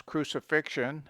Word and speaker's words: crucifixion: be pronounced as sh pronounce crucifixion anxious etc with x as ksh c has sometimes the